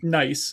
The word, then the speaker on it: gneiss: So this first word, I got to pronounce correctly. Nice.